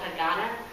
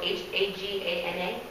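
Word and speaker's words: Haganah: They were called Hagana, spelled H-A-G-A-N-A.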